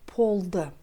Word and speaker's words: болды: Следующее слово «болды». Здесь он произносится как «полды». «Өтө қызық болды», потому что если буква «б» следует после глухой согласной, то «б» произносится как «п».